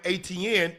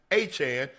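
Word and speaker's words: Etienne: They were calling him ATN at Clemson, but it's Travis Aan Jr.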